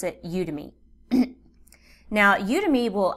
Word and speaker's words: Udemy: market your course for you you can try udemy however some people pronounce this udemy some people pronounce it I pronounce it udemy now you to me will actually market your